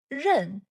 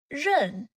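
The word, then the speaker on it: 刃: This character is rèn. rèn fourth tone rèn It looks very similar to dāo meaning knife.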